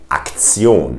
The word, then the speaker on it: Aktion: If you see this ending of a word, which you might already know from English, then you have to know that it's pronounced Zion. In a word like institution, the German pronunciation of that word would be Institution. That's the same word, by the way, the same spelling, but it's pronounced differently. We say Institution, or in a word like Aktion.